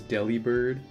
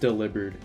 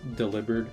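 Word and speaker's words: Delibird: like delivering presence so it would just make more sense if it was pronounced delivered like delivering so I I call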